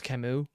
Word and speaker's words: Camus: I've always heard it pronounced as Camus. I've never heard otherwise, and if I didn't know who The Stranger was, I would be very off about this.